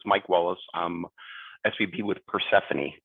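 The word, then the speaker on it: Persefoni: I'm SVP with Persephone, pronounced Persephone.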